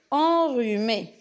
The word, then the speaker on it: enrhumée: RH, c'est un R aussi. Un rhume. Elle est enrhumée.